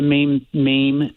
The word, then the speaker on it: MAME: No, MAME is right.